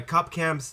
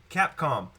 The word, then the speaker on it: Capcom: So, we here at Weebs of Weekends are honored to have none other than my cop cam, my sorry, Cam Cop sensei. I I still said it wrong. Capcom Capcom sensei Shaggy Black.